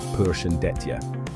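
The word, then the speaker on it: Përshëndetje: That's pronounced Persian deta for hello and phalaminderit.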